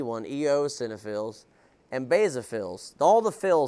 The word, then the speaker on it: eosinophils: Neutrophils, eosinophils, is how you say the E one, eosinophils, and basophils.